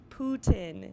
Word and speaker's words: Putin: that for the Russian participants, they have provided pronouncers for everyone, including the president, Putin.